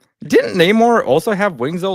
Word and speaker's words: Namor: Didn't Namor also have wings though, like in the comics on his feet?